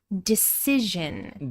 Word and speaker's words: decision: A long I sound in decide to a short I decision sound.